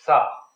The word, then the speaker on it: sa: It's a word that goes sa, is the way the Egyptians pronounced it, roughly.